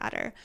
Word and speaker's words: Attor: Yeah, I absolutely thought that it was spelled like adder, like the snake. So I was imagining it as something kind of snaky, and it appears to actually be spelled ATTOR, which really threw me off.